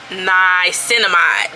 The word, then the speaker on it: Niacinamide: Niacinamide, that's how you say it, period.